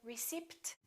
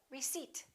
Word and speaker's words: receipt: All right, silent P. Don't say receipt, say receipt. Can I have my receipt?